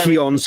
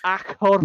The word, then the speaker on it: Acheron: It's got an R in it. It's Acheron. No, I'm doing the Spanish pronunciation. There's no R in the Spanish one because I watched the video introduction on backing it.